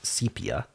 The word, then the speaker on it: sepia: Yesterday we spun the wheel and it said to start with what I usually say sepia, but I think the more common pronunciation is sepia.